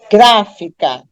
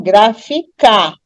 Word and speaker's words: gráfica: de achar sílaba tônica você tenta pronunciar a palavra enfatizando cada sílaba por exemplo a palavra gráfica tem três sílabas né gráfica se eu tem ênfase na última sílaba que é K eu vou ficar com graficar e a palavra é graficar não se eu der ênfase na penúltima sílaba que é fi eu vou ficar com grafica Então não é grafica mas se eu D